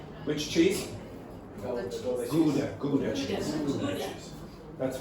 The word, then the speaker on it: Gouda: Gouda cheese. That's how we pronounce it in English.